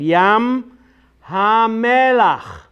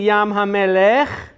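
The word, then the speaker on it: ים המלח: Now, if you said Melech, you're saying God or King. But we're not saying Yam HaMelech, we're saying Yam HaMelach. So, King is Melech, Here's Melech, which is king, and here's Melach. You see the difference? Melech, Melach.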